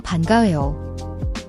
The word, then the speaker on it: 반가워요: The ban is a soft B sound, not a hard P. The weo is a diphthong, pronounced like wo without the H sound.